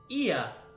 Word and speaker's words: Ea: When the vibration of local folds was still required to convey our thoughts and intentions, Ia, I believe, was the pronunciation used when referring to other people.